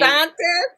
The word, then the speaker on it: Protestantes: Protestantes is the protesters, okay, who is on the streets like saying Protestantes. That's how you say it.